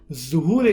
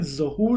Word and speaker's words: ظہور: جو صحیح لفظ ہے، ظہور نہیں ہے، مشہور ظہور ہے. صحیح ہے. لیکن حقیقی اور جو صحیح تلفظ ہے اس کا وہ ظہور ہے.